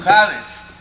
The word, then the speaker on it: Hades: como lo que es el Hades Okay Eh Hades esto una vez lo hablamos ades se pronuncia como como jades y significa que es receptor de todas las